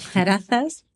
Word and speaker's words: Zarazas: De zarazas, pronuncio la Z. Sí, Zarazas. Ahí, ahí.